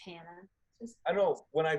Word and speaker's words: Hannah: Because even still, people just say my name like Hanna a lot, or like Hanna, and I'm like, it's just Hannah.